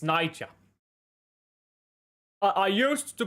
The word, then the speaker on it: Niger: Because that's how you pronounce it. It's Niger. I I used to pronounce it Nigeria, but apparently that's not how you say it.